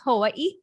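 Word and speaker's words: Hawaiʻi: technically it's Hawaii, and there's a little okina in between each eye, so that's like how you pronounce it.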